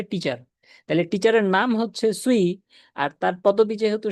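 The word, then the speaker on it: Cui: না প্রথম কথা হচ্ছে উনার নাম হচ্ছে সুই সি ইউইি ইউ আই দিয়ে কুই বা চুই বুঝায় না সি ইউই দিয়ে চাইনিজ এটার উচ্চারণ হয় হচ্ছে সুই ঠিক আছে সুই তো যারা হচ্ছেযে ময়মনসিংহের আঞ্চলিক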